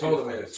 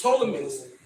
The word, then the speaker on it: Ptolemaeus: Yeah, the P is silent, so it's Ptolemaeus. Ptolemaeus.